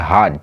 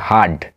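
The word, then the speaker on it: heard: ই এ আর হিয়ার second form হচ্ছে হার্ড হেয়ারড নয় এর উচ্চারণটা হবে হার্ড তো ফার্মার শুনতে পেয়েছিল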